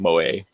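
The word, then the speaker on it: 萌え: if not just listen um moay which is pronounced moay is is a Japanese slang word um it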